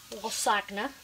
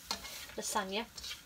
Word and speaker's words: lasagna: Now I don't often make lasagne. Yes, I know I said it wrong. Lasagna.